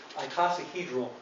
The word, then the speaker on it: icosahedral: me a couple weeks to learn how to pronounce that the granddaddy of them all is icosahedral packing that's 12 packing that is a classic